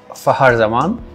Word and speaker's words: Fakhar Zaman: name is basically it's Fakhar Zaman. So for English people, K is silent there. So make sure K is silent so you can pronounce it like F-A-H-A-R, Fakhar Zaman.